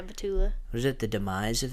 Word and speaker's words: Batula: Summer House, yeah, we got we got Kyle Cook and Amanda How do you say her last name? Batula? Yeah, Batula.